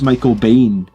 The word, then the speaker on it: Michael Biehn: It's pronounced Michael Biehn.